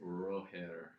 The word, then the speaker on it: Roger: It's Roher. Roher Federer. That's the Swiss pronunciation.